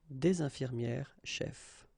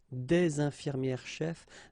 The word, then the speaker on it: des infirmières chefs: thing, une infirmière chef, des infirmières chefs, the only difference will be here in the liaison, because actually you don't pronounce this final S here or here.